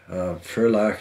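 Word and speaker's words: Ferlach: franzodia is one of those substantial names in Fair lock that's spelled f-e-r-l-a-c-h and if you ever come into some money or win a lottery or what have you furlock is the place to visit the guns they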